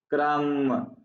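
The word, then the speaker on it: crumb: अक्रम, क्रम, B silent है, क्रम, मैंने उसे एक लुकमा या एक टुकड़ा दिया।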